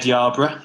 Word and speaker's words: Yerburgh: Like it's YER, but you pronounce it Yar. But I don't know any other word that I can compare that to. Like the final part of it's borough, and I can say, like Edinburgh. It's a similar sound, right? It's spelled the same way. I can't think of a single word where the ER makes an R sound.